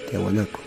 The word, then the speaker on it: Tiahuanaco: La cultura Tiahuanaco se pronuncia Tiahuanaco.